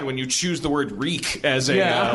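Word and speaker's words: Rieck: german their last name my mom's maiden name is uh reek r-i-e-c-k but it used to be pronounced reich but and they made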